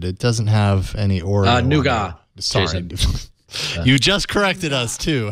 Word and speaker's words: Nougat: draft dates to notes it's pronounced nuga yes it is and to thank you